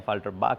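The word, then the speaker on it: Affalterbach: अब एफाल्टबा कई लोग अलग अलग तरीके से प्रोनाउंस कर सकते हैं, बोल सकते हैं एफाल्टरबाक होता है, मायबाक होता है, मायबाह नहीं होता।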